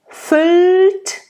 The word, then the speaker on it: füllt: There's an open Ü. Füllt. That is also a word in German, but it means fills, like the third person of fill, the word to fill.